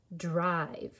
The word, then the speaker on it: drive: i sound dr no english word ends in v always followed by a silent e and it makes the eye say i but let's add to